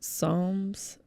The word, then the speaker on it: Psalms: their cups C cups Psalms it's a weird word it's silent P let's see what they